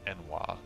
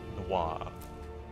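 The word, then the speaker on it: n'wah: I remember reading Enwa before I'd played Morrowind, and I was like, no way that it's pronounced Enwa. It's got to be pronounced like Noir.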